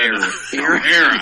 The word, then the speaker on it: era: I thought you were saying area, but mispronouncing it. No. Era.